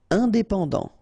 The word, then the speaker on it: indépendant: Indépendant, final T not pronounced, indépendant, indépendant.